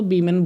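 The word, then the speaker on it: women: देखो सिंगुलर होगा वुमन लिखेंगे, प्लूरल होगा तो बीमेन बोलेंगे। तो प्रोनाउंसिएशन में अंतर है, बीमेन।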